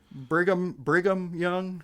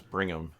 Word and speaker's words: Brigham Young: the flip the tables briam young yeah I think so I don't think it's Bram yeah no that sounds right Brigham Young sounds more writer to me